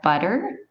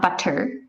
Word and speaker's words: butter: Some other common lazy sounds would be, instead of really pronouncing the sound for the double T, like butter, it's not butter. In Canadian, it's butter. It's a little, almost like D sound, butter. Butterfly.